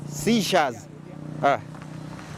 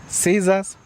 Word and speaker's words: seizure: Hii neno inasemwa hivi seizures. Hii neno inasemwa hivi seizures. Neno ni rahisi sana. Inaitwa seizures. Seizures. The word ina pronouncewa as Caesars, Caesar's ama Suarez.